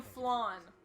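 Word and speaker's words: Flayn: You mean Flan. No, it's fine. Consider It whether looks this like is it should be an pronounced unnecessary flan. risk. There's a Y there. Yeah, I know, the Y is silent.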